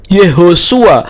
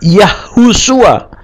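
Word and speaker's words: יְהוֹשֻׁעַ: keselamatan yahwe yahwe keselamatan yehosua atau Yosua tidak yahusua tapi yehosua ya tidak pernah kita temukan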